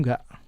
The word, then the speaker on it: nggak: Tahu nggak? Okay, but sometimes you will see it is written as tahu nggak, but you don't pronounce this letter right here.